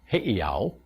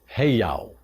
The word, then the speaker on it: heiau: And it is not, by the way, it is not heiau. Some people get carried away with these apostrophes. It's heiau. Okay? That's the proper pronunciation.